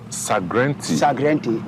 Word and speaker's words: Sagrenti: Sagrenti, because Ashantis couldn't pronounce Se Garnet Wolseley. Jesus. Because of that, they pronounce it Sagrenti.